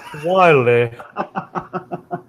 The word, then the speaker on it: Wile: It's pronounced weird. It's pronounced Wiley.